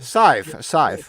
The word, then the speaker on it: scythe: The Skyfer, where the farmers to Rob the tried to Sith.